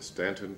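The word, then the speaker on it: Staunton: Jr., and I was born in Stanton, Virginia, S-T-A-U-N-T-O-N. It's spelled one way and pronounced another, as there are some cities in the South.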